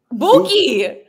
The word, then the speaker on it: BooQoo: How do we pronounce this? Buqoo? Buqoo.